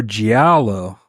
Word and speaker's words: Giallo: Oh, Giallo. No, you don't pronounce the L's, I don't think. Yeah, it's Giallo.